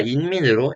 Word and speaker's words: 인민: 대표적인 예시가 인민으로 인민은 한자로 사람인자 백성민자이기 때문에 북한에서도 인으로 발음합니다. 또한 이름의 성씨인 임 또한 한국에서 도금이 임이기 때문에 북한에서도 임으로 표기되고 있습니다. 그래서 린민동지가 아니라 인민동지라는 표현이 규범에 맞는 표기입니다.